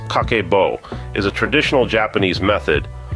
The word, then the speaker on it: Kakeibo: cakeo and its roots kaco pronounced kako is a traditional Japanese